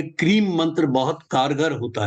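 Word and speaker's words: क्रीं: का वो मंत्र है क्रीम के आर आई एम इसको उच्चारण किया जाता है की आर ए एम क्रीम ये काली जी का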